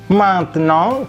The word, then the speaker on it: maintenant: Ini tulisannya maintenant, tapi dibacanya kalau pelan-pelan kita bacanya ini maintenant karena AIN ini berbunyi ang, seperti halnya kombinasi IN saja. Kemudian E-nya tidak ada aksonnya. Kombinasi AN berbunyi ong ke bawah dan T di ujung tidak bunyi.